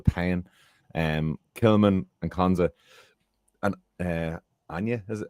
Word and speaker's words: Aina: Kilman and Konza, and Anya, is it Anna? How do you pronounce that? Aina.